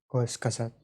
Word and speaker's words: Kurzgesagt: If So it is pronounced Kurzgesagt.